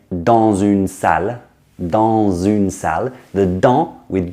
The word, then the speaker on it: dans: So we say dans, and the S stays silent.